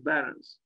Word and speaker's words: Behrens: Northampton by Peter pet I guess we should pronounce his name he was German and not English Peter Barons this was built in